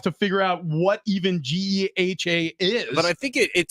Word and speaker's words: GEHA: Do you guys want me to play for you the pronunciation on Geha Field Yes. or Geha or whatever it is? It's Geha, like Fletch said.